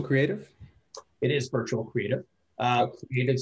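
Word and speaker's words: Cr8tive: Creative spelled with an 8, C-R-8-T-I-V-E.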